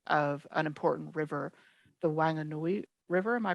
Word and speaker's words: Wanganui: for the personhood of an important river, the Wanganui River. Am I pronouncing that right, Robin? Yes. Thank you. Wanganui.